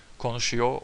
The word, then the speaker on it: konuşuyor: The man speaks French, adam Fransızca konuşuyor. Konuşuyor or konuşuyor, depending on your dialect, accent. Usually we don't pronounce the R. I sometimes personally do, but it depends on the person.